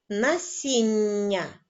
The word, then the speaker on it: насіння: лускають бо це смачне насіння прочитаємо ще раз слово відгадку насіння ви почули що під час вимови ми затримуємось на вимові м'якого приголосного ні на письмі цей